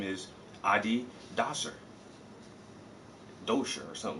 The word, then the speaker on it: Adidas: Europe somewhere and they having a debate about Adidas and how to say the the proper way to say Adidas is it Adidas or is it ad dies and she said well we just going to